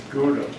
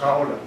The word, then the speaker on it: Gouda: And how do you pronounce it? Gouda. No, that's the American way. The company was headquartered in that town, which I visited and spent a lot of time there. And it's pronounced Gouda. That's the Dutch way of saying that town.